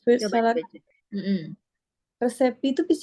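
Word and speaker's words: receipt: oke tapi kalau misalnya resep dokter itu beda lagi cara bacanya resit ya Res sama kayak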